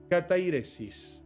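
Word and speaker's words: καθαίρεσις: de la siguiente manera, katairesis. Esa es la palabra exacta, así se pronunciaría en griego esta palabra.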